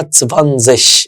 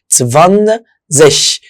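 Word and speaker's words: zwanzig: ال20 اسمها تسفانزش. اسمها يا شباب تسفانزش.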